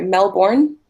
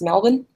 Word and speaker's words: Melbourne: melbourne cup or sorry Mel born here is actually pronounced Melvin um and it also